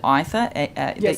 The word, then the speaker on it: Aither: Was it Aether? I pronounce it Aether, but perhaps it is sure. Aether. Let's go with that.